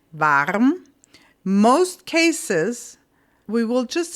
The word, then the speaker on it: warm: Varm. You write that exactly the same way. There's just a little different pronunciation. Varm.